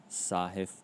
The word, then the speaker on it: Sahith: I'm pretty sure you pronounced the first name sahith tigala for the first name sahith and then